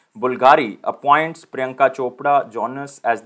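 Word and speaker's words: BVLGARI: ambassador this is not bulgari this is bulgari v is basically in the ancient pronunciation of the italy it is pronounced as the u so remember it is known as bulgari so italian luxury brand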